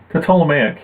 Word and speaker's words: Ptolemaic: How do you pronounce that term, though? Ptolemaic? Ptolemaic, yeah.